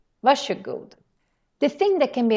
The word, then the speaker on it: varsågod: This word, varsågod, has a very interesting pronunciation because it's written like this. Varsågod. But when you pronounce it, then we say more like a sh sound.